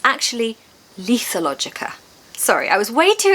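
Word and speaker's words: lethologica: Sorry, I've just checked Google and it's actually Lethalogica.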